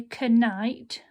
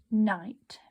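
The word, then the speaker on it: knight: makes certain sound so we don't say connight we say night okay then when you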